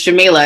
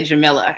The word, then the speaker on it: Jamilah: my name correctly because it's jamila and most people say jamilla and so it warms